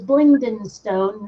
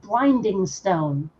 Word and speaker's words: Blingdenstone: And I'm sorry, but the name of that particular town in the Underdark is Blingdenstone, not Blindingstone. Blingden, Blingden, Blingden.